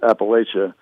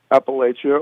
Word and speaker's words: Appalachia: And I think above the Mason Dixon line, it's Appalachia. We're very close to the Mason Dixs line. It's an hour south of us. So, we we get both pronunciations here.